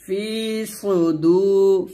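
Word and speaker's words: صدور: ফি সদে পেশ সু সদটা মোটা হবে ফিসু দাল ওয়াও পেশ দু এক টান দিবেন ফিস সুদু ফিসু বলবেন না এখানে সদ সদের জায়গায় সিন উচ্চারণ করবেন না তাহলে কিন্তু ভুল হবে ফিসু দূর নুন জেরিন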